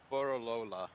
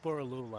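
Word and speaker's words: Borroloola: Borolola. It's Boralula.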